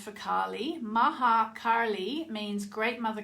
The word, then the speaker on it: Kali: And I do think it really helped because Kali, or Kali, as I've been taught to say her name in India, where I've learned pretty much everything I know about Kali.